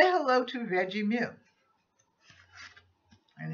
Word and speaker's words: Veggemo: And this is Veggie Moo. And it's spelled VEGGEMO, M-O. And it's Veggie Moo.